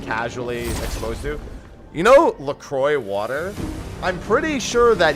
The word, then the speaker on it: LaCroix: Yeah, but that's not, but the company, the water company is not pronounced Le Croix. You're outmatched. It's actually, their company actually pronounces it LaCroix, which to me is just stupid.